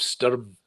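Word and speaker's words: Stoirm: she yeah yeah the the island of of sturm uh which is is spelled s-t-o-i-r-m and uh i had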